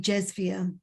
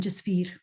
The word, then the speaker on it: Jasveer: Here in England, most people who are not Punjabis call me Jesvia rather than Jasveer.